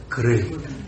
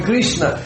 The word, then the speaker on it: Krishna: Não é cri, é crishna. Nós quando falamos o nome Krishna, nós falamos três sílabas. Krishna. Krishna, mas não é, são só dois.